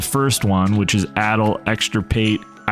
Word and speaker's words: Exenterate: So, you could use addle, exenterate, I think is how it's pronounced.